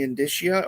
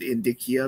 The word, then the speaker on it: indicia: I don't know how people pronounce it. I always pronounce it indicia because that's how it would be pronounced in Latin.